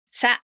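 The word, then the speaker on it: サ: Sa. This is easy to confuse with the hiragana se. In fact, it looks like the mirror image of that se. Unfortunately, it is pronounced Sa.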